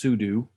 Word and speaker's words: sudo: So the sudo, that actually, or sudo, that's in Linux pronounced sudo, it basically means to run as an admin.